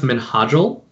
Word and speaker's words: Menadel: I pronounce your name uh it's pronounced menadel uh and then the last